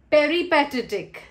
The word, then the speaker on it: peripatetic: Touring, peripatetic. Next word is peripatetic, also means to travel. Peripatetic has got its rhyme with very pathetic.